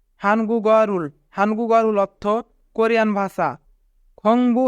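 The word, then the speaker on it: 한국어를: এখানে গিয়ক বাচ্চিমের পরে ইয়ং থাকার কারণে গিয়ক বাচ্চিমটি ইয়ংয়ের স্থানে যাবে, তাই উচ্চারণ হবে হানগুগারুল।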